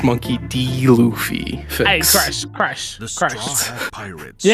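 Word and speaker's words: Monkey D. Luffy: was a pronounce that was a way to pronounce it monkey luffy it's monkey d luffy christ crash crash pirates you ain't getting no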